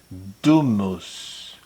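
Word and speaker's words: Doom:VS: It says Doom VS, but the V is meant to be like spelled like U, so Doomus.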